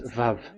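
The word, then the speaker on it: וָו: So the word, the shape vav is really pronounced V, like vogue.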